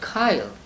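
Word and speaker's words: chyle: SI h yl e how do it is pronounced Kyle please look it up in the dictionary so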